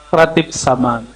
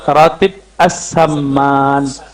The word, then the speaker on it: ratib as-saman: Ya, yang pertama tadi tentang ratib saman. Sebenarnya cara bacanya ratib as-saman.